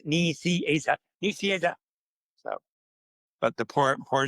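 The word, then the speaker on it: Nicieza: He would always say, "Ni, Asa." Ni Asa, it's not hard. Niasa. So I said to Cyclops, I said, "Oh, it's pronounced knee cheese."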